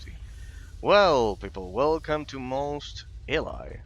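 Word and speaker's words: Mos Eisley: Well people, welcome to Most Eli. I say most Alli most of the time because I think I think it was the original pronunciation or some like that.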